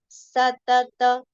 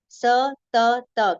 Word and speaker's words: सतत: So evam, evam, satata. Satata, complete pronunciation. It is not satat. It is satata yukta ye.